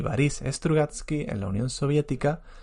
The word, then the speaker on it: Boris: el acento por tanto no digo bolis strugatski digo parís que es como se pronuncia en ruso y bueno simplemente ese